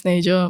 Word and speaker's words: Sneja: you lot butchered 5 letters. But yeah, my name's Sneja.